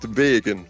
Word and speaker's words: Vaeggan: Yes, and it's pronounced Vaeggan.